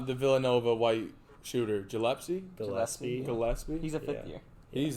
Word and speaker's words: Gillespie: Gillespie.